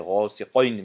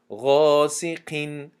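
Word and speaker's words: غاسقين: قاف که استعلا هست فکر میکنن که در حالت کسره بودن همی استعلا بر این تلفظ می شود، یعنی غاسقین می شود گفته، همین خیلی تلفظ میکنن غاسقین. این خطا است، بلکه غاسقین تونک خونده می شود قاف.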